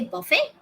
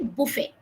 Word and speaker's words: buffet: We can say buffet or we can say buffet. Both are correct.